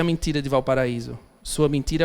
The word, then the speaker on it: Valparaíso: que l'on prononce affreusement à la française, Valparaiso, c'est Valparaíso, la vallée paradis.